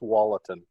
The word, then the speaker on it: Tualatin: sure up here and i think it's generally pronounced tualatin well see there you go it's like everybody